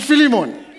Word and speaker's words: Philemon: no listen listen listen depending on where you went to school it'll determine it'll determine how you pronounce it all right I pronounce it phimon some of you may pronounce it filimon um trust me when it gets to God's ears it's all great you know so so